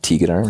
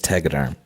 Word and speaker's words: Tegaderm: Tegaderm, it's just a plastic wrap that you put on burns, but historically have used it on like road rash.